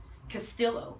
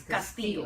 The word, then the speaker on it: Castillo: My name isn't Castillo. It's Castillo. Castillo.